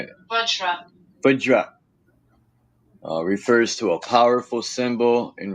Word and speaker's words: Vajra: It's spelled Vajar, I think. Vajra. Let me look it up. Vajra. Or the Vahara. But it is the Vajra.